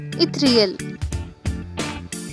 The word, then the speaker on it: ethereal: இன்னைக்கு நம்ம பார்க்குற word இத்ரியல். ஹவு to pronounce it? ஈ தி ரீ எல் இத்ரியல்.